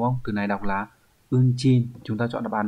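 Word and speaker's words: 運賃: Từ này đọc là unchin.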